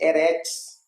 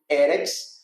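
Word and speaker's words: ארץ: E nos ajuda a ler corretamente as palavras em hebraico, por isso eu leio Eretz, com a sílaba tônica na primeira e não Eretz.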